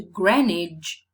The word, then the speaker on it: Greenwich: If we go down to Greenwich, Greenwich, Greenwich, you see, Greenwich, there seems to be no correspondence between pronunciation and spelling.